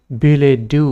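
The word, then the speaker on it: billet-doux: এই দুটাও ইয়া সাইলেন্ট বিলে ডু বলি এটু প্রোনাউন্স করা হয় বিলে ডু এ স্ট্রেস টু এই ডি ও ইউ ইয়ার উপর স্ট্রেস টু থাকে আর ইটু যেটি আমি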